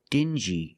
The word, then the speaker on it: dingy: Example, dingy and stingy. These two words have the regular n sound plus the j like juice together.